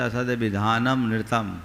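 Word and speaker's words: असदभिधानमनृतम्: असदभिधान मनृतम, प्राय इसका उच्चारण लोग कह देते असदभिधानम नृतम, गलत है। असदभिधान मनृतम, असद अभिधानम अनृतम।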